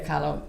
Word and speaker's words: Kahlo: Kahlo, yeah.